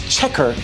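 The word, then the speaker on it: Chequers: This is Chequer, England. That's how it's pronounced.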